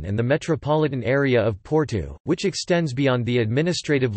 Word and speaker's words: Porto: Porto, Portuguese pronunciation, Porto, also known as Oporto in English, is the